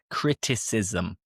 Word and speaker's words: criticism: Note here that we have two syllables. Ism. And we have similar words like racism, multiculturalism, vandalism. I'm sure there are more, but I can't remember. So the ISM in English, when you pronounce it, it is with two syllables.